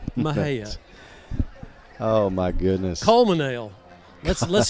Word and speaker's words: Mexia: That's like Mexia. I mean, excuse me, Mahia.